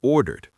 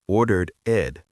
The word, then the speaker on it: ordered: I actually ordered the vegetarian pasta. And notice what Lily does with the word ordered. She does not overpronounce the ed ending. It is not ordered ed.